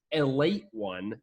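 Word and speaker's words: Ale-8-One: You could also pronounce it a late one if you didn't want to call it Ale 8.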